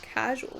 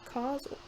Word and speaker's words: causal: causal causal confusion pronouns it's not casual it's causal casual is something different cause